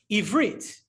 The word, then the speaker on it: Ivrit: Ivrit, right? If you ever know, how do you say Hebrew? And it's a funny question. How do you say, what's the Hebrew word for Hebrew? The answer is Ivrit.